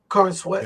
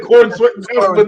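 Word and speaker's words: Corenswet: David Corn Sweat.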